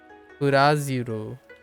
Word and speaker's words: ブラジル: So the rolling the R in it, and there's no syllable bruh. Kind of reminds me of bruh.